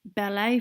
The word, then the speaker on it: ballet: In the word ballet, for example, the letters ET are used to spell the A sound, and in the word cafe, the A sound is being spelled with just a letter E.